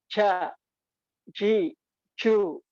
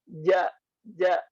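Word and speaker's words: ج: Kalau terlalu belakang ini bunyinya kayak gini. Ja, ji, ju, ja, ji, ju. Nah, ini contoh jim yang kurang tepat. Yang insya Allah tepat, yang insya Allah benar pengucapannya dari lidah bagian tengah. Ja, ja. Nah, seperti itu bunyinya. Ja, ji, ju, baje, aje, ije, uj. Jadi bukan aje, ije, uj. Nah, itu faktor karena terlalu belakang pengucapannya.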